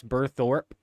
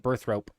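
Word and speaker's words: Burthorpe: Have I been pronouncing that wrong my whole life? I'm just now seeing that that's Berthorpe. I've been calling it Berthrope. Berthrope. It birthed the rope. Okay.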